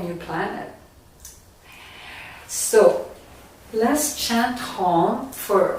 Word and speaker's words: Om: A, U is spelled A, U, M. So it's A in the Muladhara, and then U in the chest, and Om.